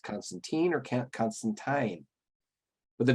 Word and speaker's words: Constantine: in to confirm that alan moore pronounced it counts constantine tweeting i spoke to alan moore about swamp thing at a signing back in the midst of history when he did such things and he absolutely pronounces it constantine that constantine and alan